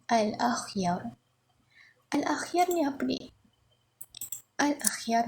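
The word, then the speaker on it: الأخيار: Ini cara baca dia bukan al-akhir tetapi al-akhyar.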